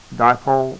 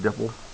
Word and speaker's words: dipole: questions adequately uh-huh yeah dipole dipole please don't pronounce it Dipple I have students some